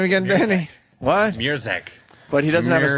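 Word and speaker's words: Mruczek: Murzek.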